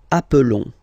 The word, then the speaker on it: appelons: Nous appelons. And then little link would be perfect, so let's pronounce the whole thing again. Nous nous appelons. Nous nous appelons. Okay, final S doesn't exist.